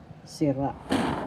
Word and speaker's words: sira: sira first syllable si second syllable ra the second syllable has the accent and so you say